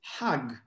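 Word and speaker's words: חג: But they pronounce the G as J. And now if you read it in Hebrew is Hag, right?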